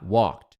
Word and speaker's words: walked: Pá, ah, walked. Então aqui, walked termina com ed, tem som de T.